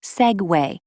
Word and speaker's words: segue: one topic to another the word is segue and it is pronounced segue just like the segue that people can ride maybe the inventor gave